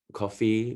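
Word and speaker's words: Ko-fi: monopoly on passion economy there's also coffee which is spelt k-o-f-i and buy me a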